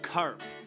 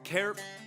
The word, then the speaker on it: Carp: old from carp ontario it's pronounced carp not kerp not crap c-a-r-p carp i didn't start writing